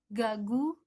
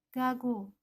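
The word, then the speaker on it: 가구: Contohnya, pada kata gagu yang artinya mebel, saya tidak membacanya dengan huruf G, gagu, ataupun huruf K, kaku. Namun, pengucapannya di antara huruf G dan huruf K, gagu.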